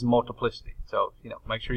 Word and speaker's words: multiplicity: it my trusty saying this is not multiply city this is multiplicity so you know make